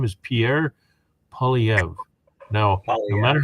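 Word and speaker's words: Poilievre: his name is Pierre POV now no matter how you think it's spelled it's a French name so you can't pronounce it phonetically it's it's just simply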